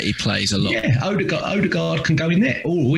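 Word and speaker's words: Ødegaard: Yeah, Odegaard can go in there.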